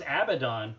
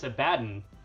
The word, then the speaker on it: Abaddon: well I mean again I thought it was Abaddon but they say that it's a baton I would say it's